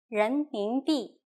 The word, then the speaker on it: 人民币: Please pay attention to this word's pronunciation, 人民币.